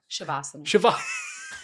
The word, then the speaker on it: Shavasana: Shavasana? Shavasana. Honestly, though, either of them work.